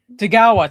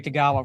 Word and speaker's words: Tagawa: Tagawa, thank you. I couldn't remember how to pronounce his last name. Terry Tagawa.